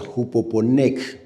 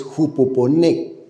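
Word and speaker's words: ὑπομονή: La palabra paciencia en el griego es una palabra que se pronuncia hupoponec. Repita conmigo. Hupoponec. En griego es jupoponec.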